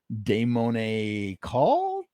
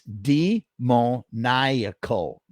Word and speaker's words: demoniacal: Damone call? Damon. Oh. Jonathan James with the clutch. Ready? It's demoniacal. Demoniacal. That's how you say it.